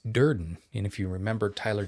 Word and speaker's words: Durden: What rhymes with burden is Duran. And if you remember Tyler Deran from our the famed